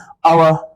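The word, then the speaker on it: hour: जैसे आप देख सकते हो यहां पे ऑनेस्ट मैन आवर ऑनर। यहां पे एच साइलेंट है और एच के बाद जो साउंड है वो वोवेल साउंड है।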